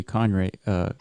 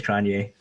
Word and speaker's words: Cronje: I mean, he's got a J, dude. That J throws me off. Yeah. I don't know if you pronounce it like a Cronje. Yeah. Cronje? I don't think so. I think it's Cronje.